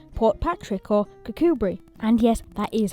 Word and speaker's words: Kirkcudbright: used to have railway stations, like Portpatrick or Kirkcudbright. And yes, that is how you pronounce it.